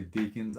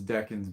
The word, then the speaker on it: decans: decans, or you know, people say deacons. I think the pronunciation is decans, but you know, who the hell knows?